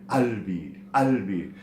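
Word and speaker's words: قلبي: However, in dialect, it's usually pronounced a bit differently, as this qaf letter is often replaced with a hamza, rendering it albi. And in parts where the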